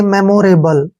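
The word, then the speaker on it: memorable: उच्चारण ल करते हैं ई का उच्चारण हम कुछ भी नहीं करेंगे क्योंकि लास्ट में जब ई होता है तो उसका प्रोनाउंस हमने नहीं करना है इसको हम पढ़ेंगे मेमोरेबल क्लियर क्या पढ़ेंगे इसको मेमोरेबल मेमोरेबल का मतलब होता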